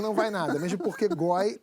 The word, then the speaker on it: G0Y: Goi é o cara que curte uma masturbação entre amigos. Até um sexo oral, mas sem viadagem, tá? Goi se escreve assim, G-0-Y.